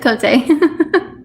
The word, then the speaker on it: Cote: I think I said it right. Cote? I guess I said it right. It's Cote.